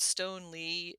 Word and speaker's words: Stoneleigh: our show notes but Stone Lee is spelled not Le but l e i GH thank you so much